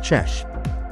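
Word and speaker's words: Ch'ał: the Rover team has named ciao the Navajo term for frog and pronounced chesh perseverance will return to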